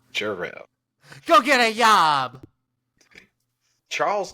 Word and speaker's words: Jarrell: Urel, that's right, Urel. Chandler Urel. Why do you keep pronouncing my name wrong? You know there's a J in it, right? Chandler Jarrell.